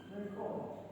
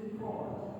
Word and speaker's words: record: If it's a noun, it becomes record. If it's a verb, I would like to record.